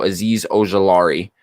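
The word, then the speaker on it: Azeez Ojulari: uh how do you say this guy's name aziz ajui there you go aziz ogilari um out of georgia he's obviously the sleeper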